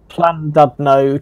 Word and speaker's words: Llandudno: I only know that double L is pronounced cla. Okay, well, Con something E. Yeah. Llandudno, Chester added, and Liverpool and Manchester rebuild.